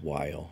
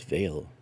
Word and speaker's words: Weil: I don't think it's Weil. I don't think it's Wheel. I think it's Veil. It's a V for the German pronunciation, but I could be wrong.